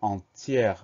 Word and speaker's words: entière: accent grave sur le premier E, on va prononcer le mot entière.